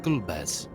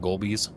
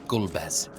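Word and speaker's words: Golbez: With luck, we may learn something of Gulbez. When we were children, my brother and I used to pronounce it Golbies. Not the bees.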